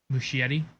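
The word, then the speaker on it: Muschietti: Um Musheti that's how you pronounce it.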